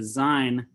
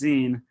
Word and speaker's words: zine: like an underground comic or a sign he didn't know that it's pronounced zine um but i i